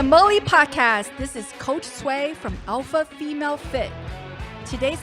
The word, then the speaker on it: Tsway: for me again it's sway sway yeah so like it is kind of sound like suede it's spell sway but